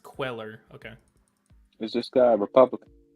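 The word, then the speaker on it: Cuellar: sort of favors this is a republican it's pronounced queller okay is this guy republican democrat well that's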